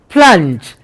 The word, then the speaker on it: plunge: So, P-L, pl, you got to pronounce the double sounds together. Don't say p-la, unj, that will spoil the pronunciation.